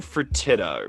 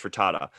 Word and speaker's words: Fertitta: here he is tillman fertitta frittata i think it's pronounced for tata so what i've heard